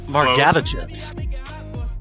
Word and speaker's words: Margevicius: And then, correct me if I pronounce this wrong, it's a tough one, but Nick Margevicius? Close. Is that right? Margevicius. Margevicius? Okay. Yeah.